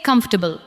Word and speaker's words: comfortable: Now say comfortable. Comfortable. Do not give every syllable the same weight. Let the first part carry the stress.